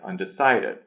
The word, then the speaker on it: undecided: So the word undecided, the stress goes on decided, undecided.